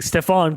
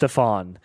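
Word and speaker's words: Stephon: Stefan Castle. Sorry, it's pronounced Stfan.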